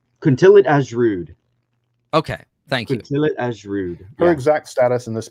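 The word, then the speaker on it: Kuntillet Ajrud: I always forget how to pronounce this. Which one? Kuntilit Ashrud. Okay, thank you. Kuntilit Ashrud.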